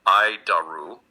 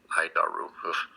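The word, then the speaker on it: ADIRU: data initial reference unit we pronounce it ID daru idar it's horrible name I'll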